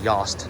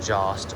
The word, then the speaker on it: Yost: Yes, I know you pronounce it Yost, not Jost or Jost, anything like that.